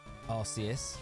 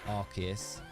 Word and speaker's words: Arceus: Arceus, which is Arceus, obviously. Which I found so funny because when you think about it, when you get in Pokemon Legends Arceus, you get the Arcphone.